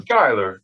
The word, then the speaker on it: Schuyler: Is it Schuyler or Schuyler? Schuyler. Yeah.